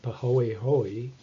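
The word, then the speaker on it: pāhoehoe: this strange word which is a hawaiian word pronounced pahoehoe has to do with the texture of the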